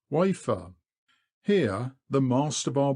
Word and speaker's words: Wayford: 2 miles up we come to Wayford Bridge, pronounced locally Wafer.